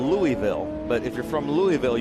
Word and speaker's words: Louisville: But Rob is from what I call Louisville, but if you're from Louisville, you call it Lowell. Louisville. You make 3 syllables, Louisville.